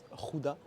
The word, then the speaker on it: Gouda: Est-ce que tu savais que Gouda, Mhm. en néerlandais, ça se prononce pas du tout Gouda. Gouda. Ça se prononce Gouda. Gouda. Ok. Gouda. Mais par contre, dans les autres pays, tout le monde dit Gouda. Bah ouais, parce que le G. Ouais. Et eux, le G le prononcent différemment.